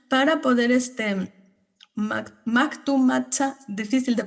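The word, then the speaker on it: Mactumactzá: los estudiantes de la normal de Chiapas, de Macumatzá, para poder Mactumatzá, difícil de pronunciar, Mactumatzá, Sí.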